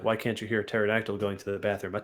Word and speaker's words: pterodactyl: Why can't you hear a pterodactyl going to the bathroom?" A pterodactyl is not a dinosaur. But I do love this joke. But why, Will? Because the P is silent.